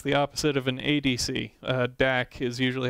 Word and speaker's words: DAC: DAC is usually how it's pronounced, and that stands for digital to analog conversion.